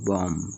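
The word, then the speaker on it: bomb: এফ আর ওয়াই ফ্রাই এম এর পর বি থাকলে বি এর উচ্চারণ হবে না যেমন ডি ইউ এম বি ডাম বি ও এমবি বম ই এক্স এর পরে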